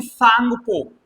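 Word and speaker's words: Tsangpo: पर इसे कहते हैं सांगपो। यहां पर ये टी साइलेंट है। जैसे सुनामी में टी साइलेंट होता है। स्पेलिंग ये वाली है। लेकिन ये टी पढ़ी नहीं जाती।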